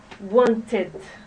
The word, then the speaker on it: wanted: So, want ends with a T and with the sound T. So we're going to pronounce it wanted.